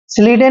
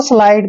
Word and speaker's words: slide: स्लीडे नहीं पढ़ना दोस्तों, स्लाइड पढ़ना है।